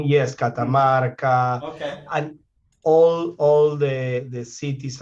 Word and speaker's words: Catamarca: He's just back from the am I going to pronounce this correctly? Catamarca? Catamarca.